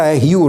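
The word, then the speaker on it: Hugh: और उसका नाम है ह्यू रॉस हयू रॉस यू की स्पेलिंग है चच यू जी हेच मगर पढ़ने में यू है यू रोस यह यूनिवर्सिटी ऑफ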